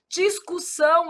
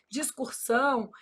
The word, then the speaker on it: discussão: Discussão. Aí o povo vai e fala o quê? Discursão.